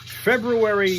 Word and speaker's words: February: Yes, it is uh Friday, February 27th. Yes, I do pronounce the R in February and I will also pronounce the R in March when it comes up starting Sunday.